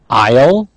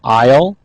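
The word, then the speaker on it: aisle: go we have nouns Isle I think I got to straighten this up a little here okay of nouns we have Isle notice AIS Le but the S is silent groceries and pound produce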